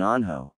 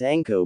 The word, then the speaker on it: Anko: It's okay, Neko and Anho. Says Naruto. It's Anko, brat. Anko. Corrected Anko, glaring at Naruto for getting her name wrong.